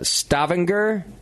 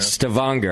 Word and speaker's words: Stavanger: It's in Stavanger. I'm probably saying it wrong. Sure. Yeah. Stavanger? Let's go with Stavanger. It's the accent's on the second half. Stavanger.